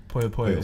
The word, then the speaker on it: Puyo Puyo: Puyo Puyo.